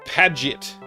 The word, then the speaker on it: Paget: Pronounced Paget. Okay.